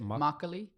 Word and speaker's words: Makgeolli: Makgeolli. Broccoli. There's a G in it, which you can't tell from how it's pronounced.